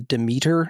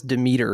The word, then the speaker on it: Demeter: I just saw The Last Voyage of the Demeter. Everybody says Demeter in it, although I've always pronounced the goddess's name Demeter.